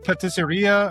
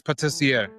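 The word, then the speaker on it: pâtissier: No, it's the patisseria or something like that. Yeah, it's the pastry. That's patissier.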